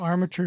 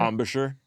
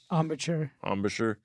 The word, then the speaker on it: embouchure: Yeah, how's that armature feeling all these years later? Embouchure. Embouchure. I always say it wrong.